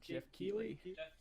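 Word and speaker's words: Keighley: been hosted virtually from jeff k he leaves jeff keely that's how you pronounce that okay yeah i'm proud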